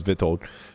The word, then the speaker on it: Witold: It's spelled Witold, but I imagine it's pronounced with a Yep. V. Yep. Yeah, okay, so it's Vitold.